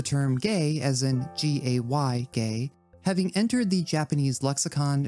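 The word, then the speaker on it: ゲイ: Gay in this context is written in the katakana alphabet, which is used for loanwords, but pronounced as a homophone of gay, the kanji for art and performance, as well as the first character in the word geisha.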